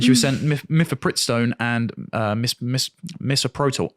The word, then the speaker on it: misoprostol: was sent mifepristone and misoprostol. Is that how I pronounce it? Misoprostol. There we go.